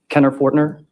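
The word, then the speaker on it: Kener Fortner: Can you please state your name and spell it for the court record? Kenner Forner.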